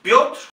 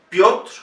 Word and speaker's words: Piotr: Piotr, Piotr, la yo es una letra en ruso, como una E con dos puntitos encima, y se pronuncia yo.